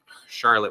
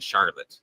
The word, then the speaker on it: Charlotte: Charlotte, would have pronounced Charlotte with a hard R, so it would have been Charlotte, not Charlotte. And Bronte would have been pronounced Bronte, and so they spelled out Tee, not Bronte.